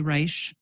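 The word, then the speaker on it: Risch: will ask Dr Libby to confirm did I pronounce that name correctly Reich I wish I were a doctor but I'm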